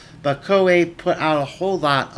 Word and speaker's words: Koei: nine years old Coe I used to call koei as a child actually well into adulthood until I realized oh wait that's not how you pronounce that now that I have some idea of how romanji Works in Japanese but KOA put out